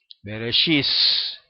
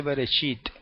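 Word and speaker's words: בראשית: vienen a deciros no no se dice berechit se dice bis eso es una ignorancia verdad del hebreo porque no es que se dice veris es que los judíos de Alemania y de otros países similares lo pronuncian de esa manera Pero eso no quiere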